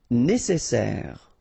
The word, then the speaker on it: nécessaire: Nécessaire. Don't insist on the final E.